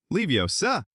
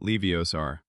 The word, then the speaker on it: Leviosa: Pronunciation is important. Leiosa, not Leiosar.